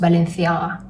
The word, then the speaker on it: Balenciaga: So I bet this one is pronounced Balenciaga, like putting your tongue out.